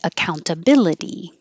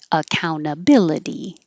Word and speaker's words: accountability: You can say the middle T, accountability, or drop it, accountability. Anything that ends in ity, remember, is going to sound like a D. So that T will always be a D.